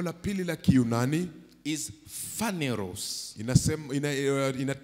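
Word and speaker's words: φανερός: Is phaneros. Inatamkwa phaneros.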